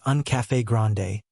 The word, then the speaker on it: un café grande: Just so you know, the correct way to say that is un café grande, with the emphasis on the E at the end."